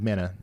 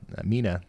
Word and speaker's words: Mena: less confidence, but still uh we're concerned about the potential for a tornado warning being issued here uh for the town of Mena Mina, sorry, um at some point within the next little bit.